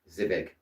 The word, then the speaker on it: Zivik: Zivik, is that how you say it? Zivik? Like civic, but with a Z. Zivik.